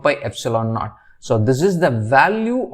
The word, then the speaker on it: epsilon naught: It is pronounced as epsilon naught, where epsilon naught is nothing but the permittivity of free space.